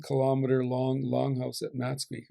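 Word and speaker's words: Máthxwi: You read Simon Fraser's journal, he talks about coming across a 1 kilometer long longhouse at Matsqui, or Mathaqui is the proper pronunciation of it.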